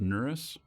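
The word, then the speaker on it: Nereus: and it's uh nurse I think that's how it's pronounced nurus I always want to put an extra s in there um but I think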